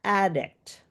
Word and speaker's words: addict: So, on the word addict, if you see, I actually bolded and capitalized what part of the the word I want you to have that higher uh louder and longer part. So, addict.